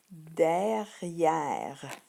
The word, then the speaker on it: derrière: Mais on ne prononce pas le E à la fin, il est muet, il est là pour faire résonner le R. Donc, on dit derrière. Je répète, derrière.